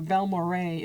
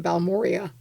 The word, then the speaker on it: Balmorhea: But when you drive into Balmorhea, and Balmorhea is named after 3 individuals.